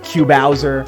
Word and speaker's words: Q Bowser: also known as Q Bowser. A lot of people don't know how to pronounce my name. That's how you say it. It's Cubone, mashed up with Bowser, and I literally have